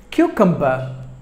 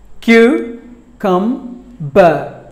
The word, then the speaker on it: cucumber: Cosette word number for cucumber cucumber cue come but just 3 syllables but the stress falls on the first syllable cucumber cucum but cucumber killed should be given more volume cucumber were number 5